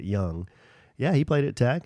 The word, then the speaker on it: Jung: Um uh Jung, J U N G, but he pronounces it Young.